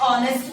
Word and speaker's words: honest: My father is dash honest man.